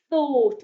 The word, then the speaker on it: thought: we've got and then o-u-g-h makes the o sound at the end thought what someone is thinking